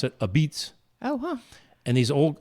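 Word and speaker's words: apizza: moderns and Sally's and it's not pizza it's a beats a and if you look at the sign it's a pizza and they pronounce it a beats oh huh and these old now is Italians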